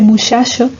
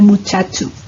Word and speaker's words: muchacho: rasgo del andaluz occidental, la pronunciación fricativa de che, ese muchacho en lugar de muchacho, porque en otras zonas, sobre todo en la parte oriental, se realiza la pronunciación africada, ¿no? La que también se realiza en Castilla.